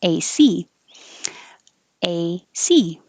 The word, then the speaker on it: AC: a with abbreviation ac then you put the stress on the second one ac a c um uh blood this